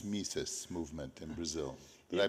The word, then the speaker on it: Mises: so tell us about uh menos Marx M mises movement in Brazil did I pronounce that all right yes uh it's a